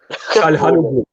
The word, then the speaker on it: Çalhanoğlu: Çalhanoğlu. I have Turkish friends. That's that pronunciation was A1.